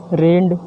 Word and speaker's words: read: की spelling same है, लेकिन यहाँ पर प्रोनाउंसिएट हम अलग करेंगे।